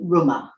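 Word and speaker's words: Römer: toast the holy Ronin Roman Emperor today in Germany the Roma is regarded as a traditional toasting glass and the English pronounce it rumor France in the last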